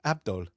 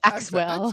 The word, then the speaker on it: Axel: Even like what is it like he gets his name wrong. Axel. Axel. He's just like that. He's like, Axwell. Like he says Axwell.